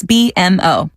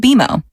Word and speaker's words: BMO: You'll be seeing us around soon, and when you do, I bet you'll call us BMO. Don't worry, it's more common than you think, but we actually pronounce it BMO.